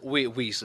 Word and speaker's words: Weiss: Weiss is fine. Weiss, That's the way okay. we pronounce it.